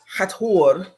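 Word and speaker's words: Hathor: they mispronounced her name hatur is supposed to be um with the T and the H broken up not together like the H um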